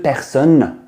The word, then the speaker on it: personne: A lot of people, a lot of my students, they say personne. Person or even person. But it's son. The double N-E tells us we need to pronounce the N sound.